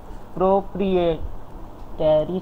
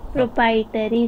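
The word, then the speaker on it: proprietary: Find out द प्रोप्रिएटरी software, कुछ है प्रोप्राइटरी software. प्रोपराइटरी बोलते हैं उसको, प्रोपराइटरी सॉफ्टवेयर।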